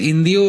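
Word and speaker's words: hindú: इंडिओ हां मेरे ख्याल से इंदियो और हिंदू भी बोलते हैं। इंदु इंदु एच साइलेंट अच्छा हिंदू का मतलब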